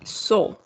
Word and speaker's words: saw: Say. No say, but saw. Okay, the pronunciation is going to be saw. I saw. Can you repeat? Yes. So, right? That's the pronunciation.